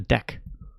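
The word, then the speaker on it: deque: And the way you pronounce it is a deck.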